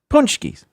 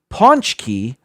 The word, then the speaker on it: pączki: There's an N sound in there. Now, there is no N in the Polish word.